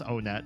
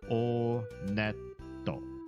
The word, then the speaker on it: Onet: It is pronounced Onet. I did check the Japanese pronunciation. And in Japanese, when you go to this first town, they pronounce it Oneto. Oneto. Should be one to.